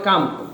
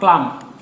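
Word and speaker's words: calm: এল এম এমন যদি কোনো একটা শব্দ থাকে তাহলে এই এল এর উচ্চারণ হয় না, ঠিক আছে, এটাও একটা লিখে রাখেন। তাহলে শব্দটা হবে কাম, উচ্চারণ কি হবে?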